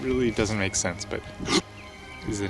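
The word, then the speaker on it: Höfn: o FN hofen but apparently it's pronounced H as like you're uh hiccuping and saying hoop something like that it really doesn't make sense but hoop is the name of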